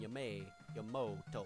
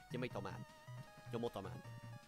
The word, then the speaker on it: Yamato: Even though that the A in the even though it's pronounced with an A, I just always like to pronounce it with the O. And Yamoto. I don't fucking care. Yamato Man.